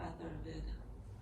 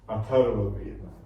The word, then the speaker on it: Atharvaveda: Atharvaveda. Atharvaveda.